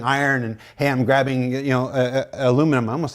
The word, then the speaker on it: aluminum: it's aluminum, by the way. It was discovered in America by an American, and it's pronounced aluminum.